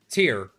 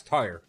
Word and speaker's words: tier: I did an entire stream mispronouncing tier as tire.